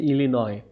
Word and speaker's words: Illinois: এটার উচ্চারণটা হচ্ছে ইলিনয়, আমেরিকার একটা প্রদেশ, where he was raised.